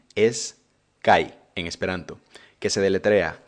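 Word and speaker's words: kaj: esperanto estás interesa la conexión gramatical y es cai en esperando que se deletrea acá a jota la jota en esperanto se pronuncia como una y el esperanto es interesante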